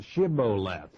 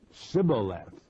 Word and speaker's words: Shibboleth: said they unto him say now ship lope Shibboleth and he said Sybil left for he could not frame to pronounce it right then they took him